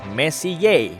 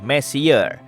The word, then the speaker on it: Messier: adalah singkatan dari mesiu diucapkan message bukan messier yang artinya lebih berantakan Charles messier persisnya adalah